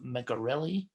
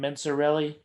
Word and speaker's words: Mencarelli: Hey, do you pronounce your last name Mencarelli? It's a hard C.